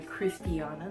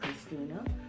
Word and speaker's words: Cristiano: my name is Cristiano you pronounce the name Cristiano not Christina or crystal Mia you know Christian so today I'm going